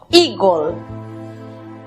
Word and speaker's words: eagle: La primera sílaba, recordemos que la combinación de las vocales EA se pronuncia I. La siguiente sílaba está compuesta por E muda, precedida de L y otra consonante. Matizamos con O, gol, eagle.